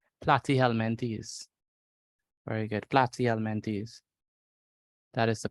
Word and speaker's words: Platyhelminthes: Platyhelminthes. That is the pronunciation of this word, platyhelminthes.